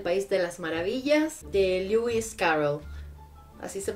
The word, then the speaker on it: Lewis Carroll: Alicia en el País de las Maravillas de Lewis Carroll así se pronuncia es una edición preciosa como podéis ver